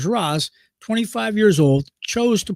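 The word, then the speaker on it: Sheeraz: Now, Shiraz, or if you pronounce his name correctly, Shiraz, 25 years old, chose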